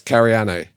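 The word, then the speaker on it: Careane: Well, you got to pronounce every vowel. So, it's Karan.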